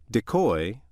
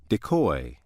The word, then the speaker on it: decoy: it has two pronunciations decoy and decoy which pronunciation you use depends on how the word functions in a sentence let's see how this